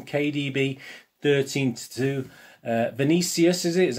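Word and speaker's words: Vinícius: five to one kdb thirteen to two uh vinicius is how you pronounce it he's seven to one mara seven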